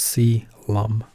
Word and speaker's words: coelom: chorionic cavity or the aka extraembryonic coelom that's pronounced si Lum ok chorionic cavity chorionic sac more score calls